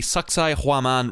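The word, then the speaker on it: Sacsayhuamán: And yes, you heard me. That is how it is pronounced. So most tourists, myself included, inevitably come to the same joke and end up calling it sexy woman.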